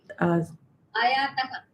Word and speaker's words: आयातः: The visarga should be pronounced completely. Ayatah.